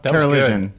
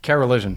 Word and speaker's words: Karoliszyn: Karoliszyn. Yes. My mom can't even pronounce it. That was good. You say it. Karoliszyn.